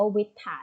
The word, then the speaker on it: วิตถาร: มี หรือ เปล่า คะ แล้ว เรา จะ ไม่ ออก เสียง วิตถาร ด้วย นะ คะ เมีย ถือ ว่า ออก เสียง แล้ว มัน ผิด เลย หรอก นะ คะ น้อง อ่าน ว่า วิตถาร เท่า นั้น ครั้ง ที่ สอง ศตวรรษ